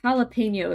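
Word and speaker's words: jalapeño: But you just kind of have to know that since it's a borrowed Spanish word, you have to pronounce the J as silent. Or I guess it's an H.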